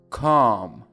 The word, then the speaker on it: calm: appropriate appropriate avoid avoid avoid behave behave behave calm calm calm الا اینجا خونده نمیشه اصلا.